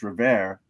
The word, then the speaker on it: Revere: And the guy that I know the best from the band, Pete Revere, that is how he pronounces his name, right?